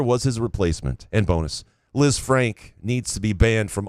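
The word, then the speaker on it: Lisfranc: Number one, Liz Frank is pronounced Liz Frank.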